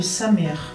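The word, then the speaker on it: Samekh: Ça s'appelle le Samer. Mais ça s'écrit Samek. Le K en hébreu, c'est un peu comme l'arabe, il faut le lire. Voilà, en dessous de la gorge.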